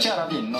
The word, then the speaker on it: Ciaravino: Faut le prononcer comment? À l'italienne, c'est mieux. Ciaravino.